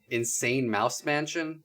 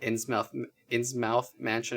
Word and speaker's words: Innsmouth Mansion: is called Innsmouth Mansion, also referred to as Insane Mouse Mansion, though this one online article said that is a mispronunciation, and that Innsmouth Mansion is correct, based on like the Lovecraft story.